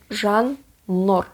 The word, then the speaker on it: Zhannur: So it's O. It's not wo, right? It's not O, it's O. Zhannur.